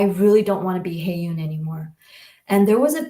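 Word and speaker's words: 혜윤: It's pronounced Hae-yoon. Hae-yoon.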